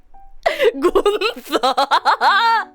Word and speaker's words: Gunther: Gunther. Specifically with the accent on the U.